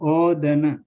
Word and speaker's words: odana: These words this A we pronounce long because there are only one consonant. There is only one consonant, deva. And sena, same here. We pronounce long because there is a one consonant. And loka, right? Loka is also same. And also odana.